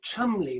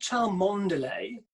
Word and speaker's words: Cholmondeley: It's pronounced Chumley, not Cholmondeley.